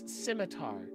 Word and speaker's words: scimitar: it i found out it's pronounced scimitar but that's not how it's spelled well how how do